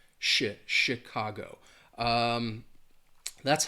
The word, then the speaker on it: Chicago: So, I I I think it more that ch would have an sh sound. Shi- Chicago.